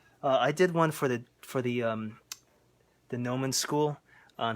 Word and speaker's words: Gnomon: The Gnomon Workshop. It's spelled Gnomon.